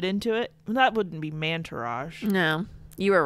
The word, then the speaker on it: Mantourage: what that means first mantourage i know you want to say it like montourage but then it takes its man to rage oh like entourage yes oh like if